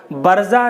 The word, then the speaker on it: برزہ: تو محترم ناظرین حضرات، برزہ نام کا صحیح تلفظ اس طرح سے ہے، سب سے پہلے با ہے، اس کے بعد را ہے، پھر اس کے بعد زا ہے اور اس کے بعد میں ہا ساکن ہے۔ با کے اوپر زبر